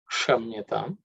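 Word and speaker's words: क्षम्यताम्: Again, the ksha comes, so that is again the uk plus cerebral sha. Kshamyatam.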